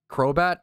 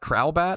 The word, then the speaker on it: Crobat: Crobat? Crowbat? How do you say it? Crobat? Crowbat? I say crow, obviously. Crobat.